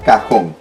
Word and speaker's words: cajón: diste cuenta de que en el caso del cajón si vamos a colocar la tienda porque la fuerza está ya marcada en la hoja en la que para en la última sílaba y en la sílaba hong por acabar y viene debe tildarse cajón continuamos plumón plumón muy